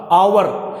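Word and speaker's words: hour: है उसी प्रकार देख एच ओ यू आर आवर यहां पर ऐड साइलेंट है यहां पर यह साइड इसे आवर या फिर और कहा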